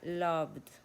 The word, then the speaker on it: loved: Perdón está en no suena la es completamente muda entonces suena va a sonar la B corta que es y va a sonar la de Love Esa es la manera de que se pronuncia loved amado para para el